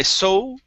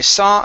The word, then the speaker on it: saw: let's go to uh the word saw instead of i so okay open up your mouth with that ah sound i saw a strange sight i